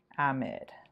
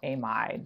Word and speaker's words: amide: Lithium diisopropyl amide, or amide, depending on how you pronounce it.